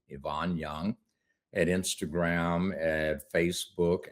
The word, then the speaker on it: Ivan: My middle name is pronounced Yvonne, but it's spelled just like Ivan.